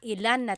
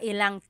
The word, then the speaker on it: ilang: Instead of mga ilan na tao ang darating, it's mga ilang tao ang darating.